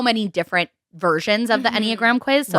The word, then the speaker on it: Enneagram: this we were like how do you say it aniagara iniagara but it's it's Enneagram I took the Enneagram